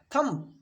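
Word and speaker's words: thumb: यहां पर दिया है थम हम लोग अक्सर पहले से सुनते आ रहे थम थंब नहीं होता है बच्चों आज से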